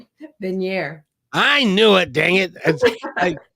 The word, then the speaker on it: Benyair: all that I'd like to welcome um Michelle benyar right benir I knew it dang it I I don't